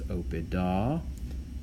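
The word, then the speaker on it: oppida: And then in the plural, nominative and accusative plural neuter end in a short a, okay, which is pronounced ah. So notice opida, and then opida again in the accusative plural.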